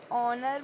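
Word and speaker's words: honour: ऑनर में है तो एच कॉन्सोनेंट, बट मैंने बताया था साउंड किसका आ रहा है, ओ का. हो, ऑनर, हम लोग एच साइलेंट कर देंगे. ओके, एच साइलेंट कर देंगे तो ऑनर आ रहा है ओ, सो ओ is vowel, so we will use an.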